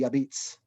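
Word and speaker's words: apizza: the phonetically way, A-P-I-Z-Z-A, which to the Nabalidan dialect would be abits. So it's supposed to be a substitute for la pizza, the pizza. So they don't use the L, it's just abits.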